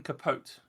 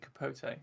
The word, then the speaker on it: Capote: get the name wrong did you pronounce it Truman capot or is it Capote I still don't know I'm gonna have to look this up I think it might be Capote there we go I'm